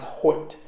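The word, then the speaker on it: Hoecht: h OE CH T like poet but it's pronounced Hoyt he went to brown he is 6 for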